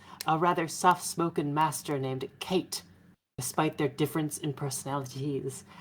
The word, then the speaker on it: Kate: had to do is pronounce the name Kate like you didn't understand it. Kate. Kate? It is Kat.